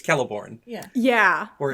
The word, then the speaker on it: Celeborn: So it's really hard for me sometimes to not go Celeborn. It's Celeborn. It's Celeborn.